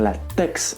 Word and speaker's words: LaTeX: Je tiens tout de même à rappeler que le mot LaTeX s'écrit bien LaTeX avec un X à la fin, mais il se prononce bien LaTeX.